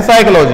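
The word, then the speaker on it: psychology: करूं तो अंग्रेजी में हम लिखते हैं साइकोलॉजी पीएसवाई सीरवी दीवानी है में लिखते तो हम यह हैं लेकिन उच्चारण करते हैं साइकोलॉजी अ में नॉलेज के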